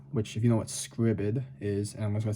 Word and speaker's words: Scribd: go to scribd which if you know what scribbid is and i'm gonna say it's spelled it's uh s c r i b